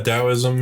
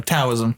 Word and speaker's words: Taoism: Taoism. Yeah. No, Taoism. No, it's with a D. Oh, is it? You pronounce it with a D. Yeah, it's spelled T.